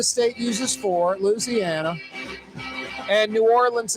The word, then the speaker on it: New Orleans: uses for Louisiana and New Orleans is a three-syllable word it's not New Orleans